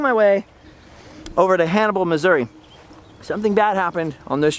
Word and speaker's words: Missouri: a few days unfortunately all of Missouri and/or Missouri as its properly pronounced by the natives all this entire area